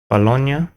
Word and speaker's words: Bologna: Bologna. So Bologna is a silly American pronunciation.